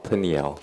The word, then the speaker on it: Peniel: But Peniel is the Greek pronunciation of the name. In Hebrew, they say it Peniel.